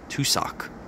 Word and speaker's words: tussock: you know two individual socks rather the way it's spelled is t-u-s-s Ock tusak ah here we go here's a better example